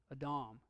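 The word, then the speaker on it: אָדָם: do this one before but I won't try pronouncing that one a Dom exactly transliterated is the name Adam the Hebrew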